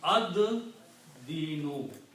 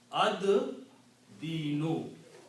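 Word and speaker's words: الدِّينُ: And also in tajweed, when lam and dal come together, lam is not pronounced. Dal is pronounced twice. So it becomes ad dinu. Okay? Ad dinu is the word.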